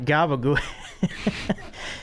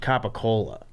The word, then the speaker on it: capicola: It's pronounced capicola. Oh, really? they're the Yeah. same thing? Yeah, yeah. There's no gabagool. That was just Tony Soprano. Tony Soprano would just say it really fast because it's like if